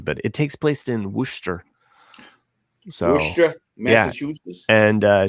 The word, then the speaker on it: Worcester: it takes place in wer so WRA Massachusetts and uh she has a Boston accent so oh so she's a mass I think it's wer I mean it's not pronounced like it sounds so massachus I should